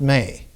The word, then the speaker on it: me: And what she acquires, the Sumerian word for it is spelled M-E, but it's pronounced May.